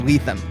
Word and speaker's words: Lethem: goes all right uh do you know how to say my name and I was like I don't think I do he's like it's letham I go I did